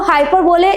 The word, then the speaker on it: hyperbole: So, let's begin with the today's first figure of speech that is हाउ you will pronounce it? हाइपरबोले?